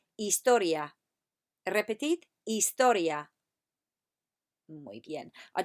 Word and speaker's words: historia: Remember to drop the H at the beginning. Say after me, historia. Muy bien.